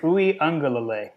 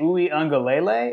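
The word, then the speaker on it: Uiagalelei: say it again say it again for everybody oui Ang I had been saying oui angele it's not lelay it's l OU Ang um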